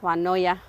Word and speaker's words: Juanulloa: the name is uh the two L's in the name uh gives it a v sound so finally I got the U consensus that it is woya or anaka thank you